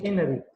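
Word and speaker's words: n-ary: सब के लिए एनरी, ये एनरी इस तरह का प्रोनाउंस होता है, ये एन फिर हाइपन है फिर ARY, ये एनरी।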